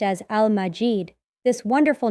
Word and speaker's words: ٱلْمَجِيد: It's written as and pronounced as Al-Majid.